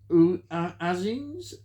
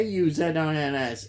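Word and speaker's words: Auzins: I think it's pronounced Azins. A U Z I N S. Uzins, who's really more renowned for the Australian TV serieses and TV films.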